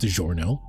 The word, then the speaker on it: DiGiorno: I know it's pronounced DiGiorno.